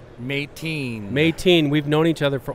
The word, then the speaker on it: Meitin: Now, tell me, is it Meitin or Meitin? Meitin.